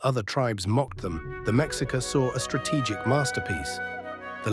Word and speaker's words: Mexica: The people we call Aztecs actually referred to themselves as the Mexica, pronounced Mexica.